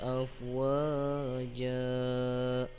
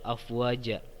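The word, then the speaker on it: أَفْوَاجًا: Nah, perhatikan kalimat terakhir di ayat kedua, afwaja. Afwaja. Nah, wa-nya dibacanya panjang 2 harokat ya teman-teman. Lalu za-nya juga dibacanya panjang 2 harokat. Za. Nah, itu dinamakan mad iwad teman-teman.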